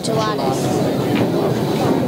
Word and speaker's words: Jelatis: How do you pronounce it? Jelatis? No, Demetrius. Yeah, Jelatis.